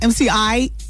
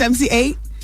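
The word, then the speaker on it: MC Eiht: Oh, his name's not MCI? It's MC8?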